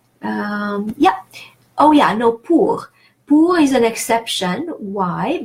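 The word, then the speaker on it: pour: silent but silent but in this particular word the final R is pronounced so it makes it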